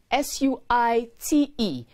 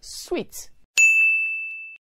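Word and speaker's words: suite: house or hospitality facility is spelled s-u-i-t-e and is pronounced sweet not suit s-u-i-t is pronounced suit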